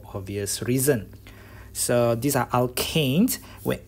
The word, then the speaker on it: alkane: It should have been alkane, not alkenes.